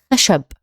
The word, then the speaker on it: خشب: Okay, so it's خشب, خشب, خشب, خشب.